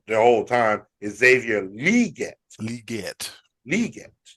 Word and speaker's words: Legette: the other day that we've been pronouncing his name wrong the whole time is Xavier liette liette Li not Xavier Legette it's Xavier liette he said it now I